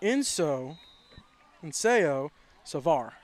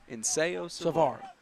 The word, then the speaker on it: Inseo Savar: I'm saying his name wrong. It's Inseo Savar. Inseo Savar.